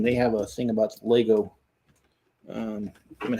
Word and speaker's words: Lego: love those dumb arguments it's Lego not Legos it's like people getting